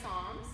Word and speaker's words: Psalms: It's pronounced Psalms, but it does look like palms.